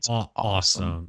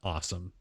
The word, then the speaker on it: OSOM: to assume it's pronounced awesome. Yeah. So OSOM. And we're going to just pronounce that awesome because that's how they've sort of referred to it.